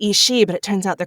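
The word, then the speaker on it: Aos Sí: like race of Fay they're called the is she and the way the way it's spelled is like a o s SI I but then they call themselves The she but it's spelled s i d he e so like visually they look really different but when I say it it's like she's like we always call them the isi but it turns out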